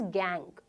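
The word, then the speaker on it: gangue: है गैंग ठीक है इसका स्पेलिंग थोड़ा सा अलग होता है जी एन जी यू ई बट इट is pronounced as गैंग ठीक है तो ये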